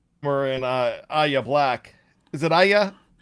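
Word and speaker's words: Yahya: Aya Black, is it yaya? Y if I pronounce it right? Y it's almost like the letters y a but you kind of say yay instead of a yay.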